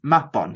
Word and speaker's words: Mabon: to people you know it's mapon it's not mabon it's not mabon it's